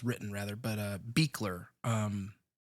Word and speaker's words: Buechler: Uh, the director, we have actually spoken about several times throughout this show so far because um, the director, John Carl Beckler, Beckler, I've been pronouncing his name wrong every single time, which is no surprise to anyone.